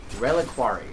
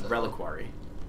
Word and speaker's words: reliquary: Drella quarry I see with the way you pronounce it I thought there was an El in there so I was trying to add an L that wasn't actually there that's reliquary yep reliquary so it's